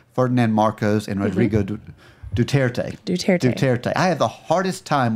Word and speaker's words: Duterte: It is spelled phonetically. You shouldn't have a problem with it. I want to roll the UE. Hooked on phonics didn't work for him. There's no UE.